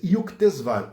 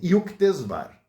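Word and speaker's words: Yukteswar: E o mestre dele chamava-se Yuktesvar. Eu não sei se a pronúncia está correta.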